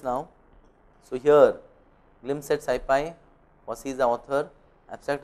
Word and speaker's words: SciPy: This is open source of SciPy itself. It is name of a package within Python. How is it pronounced? SciPy. Sci, just like in sci or in scientific. Sci for scientific, pi for Python, pi.